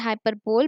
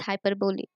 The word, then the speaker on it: hyperbole: People pronounce it as hyperbole, but the correct pronunciation is hyperbole.